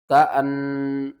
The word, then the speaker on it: كأن: حمزہ لام زبر اللام کھڑا زبر لا، اللہ، ہا پیش ہو، اللہ، كأنما يصعد في السماء، کاف زبر کا، حمزہ نون زبر ان، کأن، نون زبر نا، کأن، میم الف زبر ما،